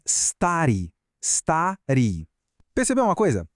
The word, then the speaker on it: старый: E velho é старый, старый. Percebeu uma coisa? Nesses dois, a sílaba tônica está no começo, não no final. Por isso a gente volta para a terminação padrão, a ri.